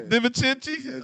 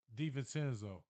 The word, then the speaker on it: DiVincenzo: Divincenzi?